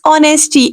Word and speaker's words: honesty: is the best policy the word is honesty H is silent here right honesty is the best